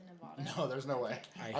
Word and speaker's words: Nevada: So I picked Africa, and then I just said Nevada. Nevada?